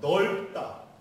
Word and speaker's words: 넓다: 그 이제 겹받침이 있습니다 겹받침 우리가 어 넓다 밝다 예 이렇게 발음을 해야 되는데 다 다라고 발음을 허락해요 세종 시절에 세종대왕이 넓다 밝다가 분명히 발음이 말이 있기 때문에 리얼 비을 써준 거 아닙니까 지금은요 전부 긴 소리로